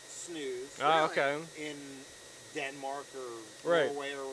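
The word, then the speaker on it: snus: camel makes that right yeah it's it's actually pronounced snooze in Denmark or Norway or whatever the heck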